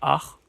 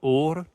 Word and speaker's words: Åre: Donc c'est pas Ar, comme je disais. Mais en fait, le A avec le rond dessus, c'est plus une sorte de O. Donc c'est plus Or, un truc comme ça.